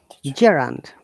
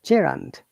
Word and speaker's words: gerund: yeah yeah okay okay gerand i'm always getting stuck this sound gerund now we can make